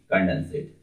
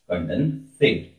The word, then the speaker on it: condensate: इसके बाद है that is also called Bose-Einstein कंडेंसेट। Bose-Einstein कंडेंसेट। कंडेंसेट थोड़ा सा आपको स्पेलिंग में अगर कंफ्यूजन हो रही होगी तो मैं फिर से बोलता हूं, कंडेंसेट, CONDENSATE, कंडेंसेट।